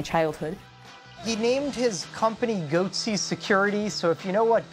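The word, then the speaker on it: Goatse Security: They're called Goatsy Security, is that my pronouncing that correctly? Yeah, that's right.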